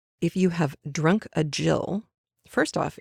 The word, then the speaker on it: gill: you have drunk a Jill first off it is spelled G I ll Gill but it's a Jill it is another word